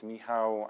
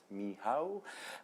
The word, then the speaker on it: Michał: some intro it's me my name is miow and this is how it's pronounced miow and yeah first of